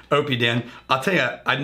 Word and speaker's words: Oppidan: peed in OB tan this is called Opie Dan that is correct pronunciation Opie Dan I'll tell ya I'm